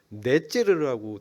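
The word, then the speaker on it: נצר: 지역 이름인데 원래 나사렛의 히브리어 발음이 네째르라고 돼 있더라고요.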